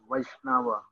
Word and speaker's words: Vaishnava: one of krishna this is called vaishnava the pronunciation yeah vaishnava therefore it is essential that a vaisnava will